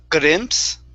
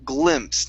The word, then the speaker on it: glimpse: gr a gl sorry instead of grimps it's gl glimpse nice and nice and smooth glimpse okay all right